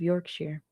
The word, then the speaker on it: Yorkshire: When I was a kid, I grew up in the East Riding of Yorkshire. That's pronounced sure. Not shire.